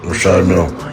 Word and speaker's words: Richard Mille: No, I like to call this people pronounce them different ways. Richard Mille is what, My jeweler told me so. That's exactly how you say it, sir. Rashad Mill.